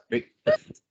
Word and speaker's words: breakfast: use the word breakfast let me give you the correct pronunciation of that word breakfast breakfast breakfast okay it's not break it's not break it's break ah the eat is like the eat in pen break breakfast breakfast breakfast breakfast